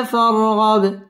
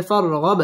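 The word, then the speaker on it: فَارْغَبْ: তাসদীদ ওয়ালা হরফ রব্বিকা ফার র পুর হবে ফারগব বা কলকলার হরফ ধাক্কা দিয়ে পড়তে হবে এবং এখানে ওয়াকফ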